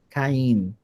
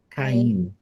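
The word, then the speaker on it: קין: Lembrando que em hebraico é com o nun no final. O som é de N, não de N, tá? Caim. Caim.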